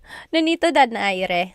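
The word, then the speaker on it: Donaire: So, Manny Oh, favorite Manny Pacquiao versus Nonito Daire. Nonito Dere as they say.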